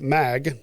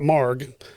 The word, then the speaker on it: Mag: It's called the Fort Worth Mag. Yeah, how do you make it? Not Marg. It's spelled Mag.